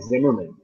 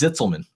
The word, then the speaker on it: Zitzelman: How do you properly pronounce it? Because I keep thinking Zimmerman. Nope, it's Zitzelman. Exactly the way it's spelled.